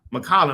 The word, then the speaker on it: McCollum: Oh God, why I keep having a hard time pronouncing his name? CJ. Yeah, CJ McCollum. McCollum.